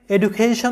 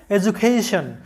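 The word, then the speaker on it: education: তবে আমাদের অনেক বাঙালিরা এবং অনেক ইন্ডিয়ানরা এই এডুকেশন শব্দটাকে এডুকেশন উচ্চারণ করে থাকে, কিন্তু এই শব্দটার সঠিক উচ্চারণটা হবে এডুকেশন।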